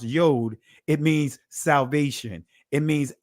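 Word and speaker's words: יוד: In Hebrew, the 10th letter, the Yod, and the Israeli is pronounced Yod.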